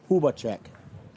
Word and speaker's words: Hubacek: we asked first and he says it rhymes with tuba Puba check and the pitch it's